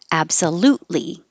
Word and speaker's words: absolutely: larry somebody's name vocabulary absolutely don't release the t absolutely hold the t because the t and the l are in the same position so you'll just hold it and then release